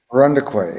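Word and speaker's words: Irondequoit: We got your last house that you lived in Rondequoit. How do you say that? Rondequoit? Rundequay, yeah.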